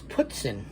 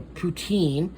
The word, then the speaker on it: poutine: the cheddar biscuits um here is putzin or poutine um the first way i learned how to say it was putzin and i don't know if somebody was just saying it because they wanted to say it like that or not but it's